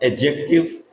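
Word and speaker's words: adjective: बाद प्रोनाउन, उसके बाद एडजेक्टिव। ठीक है? इस बात का ध्यान रखें सभी बच्चे। इसे एडजेक्टिव बोलते हैं। एडजेक्टिव। एडजेक्टिव नहीं है इसमें। इसमें आपको डी को साइलेंट करना है।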